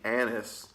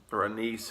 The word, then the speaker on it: anise: Now this might be anise or anise, however you want to pronounce it.